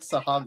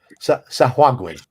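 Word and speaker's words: Sahuagin: I was like, all right, it's like Sahagwin. And how was that? Sahwagwin. No, it's like Sahagwin.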